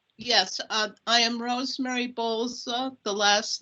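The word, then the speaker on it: Bolca: name and address yes uh i am rosemary bowles the last name is spelled b is in bravo o l c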